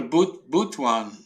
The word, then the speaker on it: Butuan: I'm going to Butuan. Well, I learned the correct pronunciation the other day, but phonetically I'll just spell it Boot Boot and then Juan, so people get that,